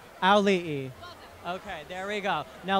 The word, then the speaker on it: Auli'i: It's ow like you stub your toe, okay. Lee like Bruce Lee, and then you add another E. Auli'i. Auli'i. Auli'i.